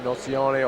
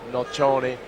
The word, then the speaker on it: Nocioni: Victoria in Spain uh you can say his name nocione or nochione it's an Italian name but he uh it